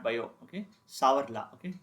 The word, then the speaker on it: Savart: Okay, sour law. Okay, here T is also silent.